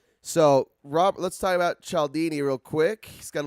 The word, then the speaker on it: Cialdini: persuasion by robert b chaldini he says his name a few times in the audiobook and i believe he calls it uh he pronounces his last name chaldini but it's spelt c-i-a-l-d-i-n-i very italian right and then when